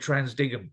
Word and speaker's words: TransDigm: last set for energy you said trans dime um I've always said transdigm so I'm really glad to hear that that's how you say it's a trans dive um